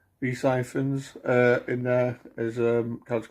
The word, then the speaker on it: Rhys Ifans: Is it Rhys Evans? Is that what you say his name? Rhys Ifans in there as a character called Eyeball Paul,